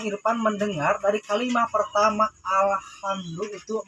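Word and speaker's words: الحمد لله: mendengar dari kalimat pertama Alhamdulillah masih ada yang mengucapkan pakai h besar Alhamdulillah senyum pengucapannya harus agak tipis juga alhamdulillah artinya segala puja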